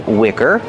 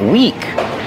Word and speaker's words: wick: candle has a wick pronunciation Wick use the short is sound like this is this is the wick of the candle it it Wick not weak with a long e like green beans I don't feel good